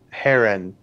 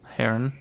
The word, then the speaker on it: Herron: name right it's kate herron it's spelled h-e-r-r-o-n okay her on kate herron heron sorry i would i would assume heron because that's how the bird is spelled but very pronounced but